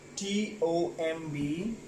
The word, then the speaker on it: tomb: Well, next word goes with T-O-M-B, right? That is Tom. B is silent in this word.